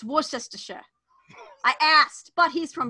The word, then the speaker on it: Worcestershire: and see how many of them can actually pronounce Worcestershire sauce. I asked my friend from Bristol. It's Worcestershire.